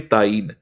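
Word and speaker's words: تعیین: अलामात तो ताईन के लिए होती है जिसको ताइन कहते हैं। असल लव ये होती है। प्रोनाउंसिएशन होती है ताईन।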